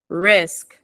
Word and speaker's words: risk: ahead R risk risk I have to hear the K risk risk yeah the sound